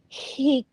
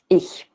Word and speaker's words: Ich: the perfect form would be more flat, ich.